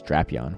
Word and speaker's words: Drapion: All right, we have a Shadow Drapion here, or the correct pronunciation, I guess, is Drapion, which I personally hate, but it is what it is.